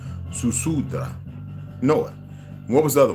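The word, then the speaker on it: Ziusudra: I always say S. Zu, because it's pronounced Susudra.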